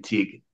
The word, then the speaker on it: Teague: It's Gaelic. It's for Teague, pronounced the same, teak.